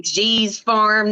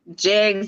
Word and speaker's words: G's Farm: will from now on my name j3 G's Farm not jigs I was like oh